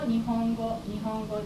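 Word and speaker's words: 日本語: Before K, G, sound, this character is pronounced as So, for example, Nihongo that is Japanese language, Nihongo.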